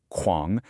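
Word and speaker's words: 狂: The poem uses the word kuáng, pronounced kuáng, to describe that wind.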